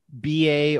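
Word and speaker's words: Bá: I think that is correct because you could say it like BA or some, other vowels in there, but I think in Portuguese it'd actually be Ba.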